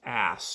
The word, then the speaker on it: as: count then they also list the word as when it's pronounced ass to mean a Roman coin who's ever heard of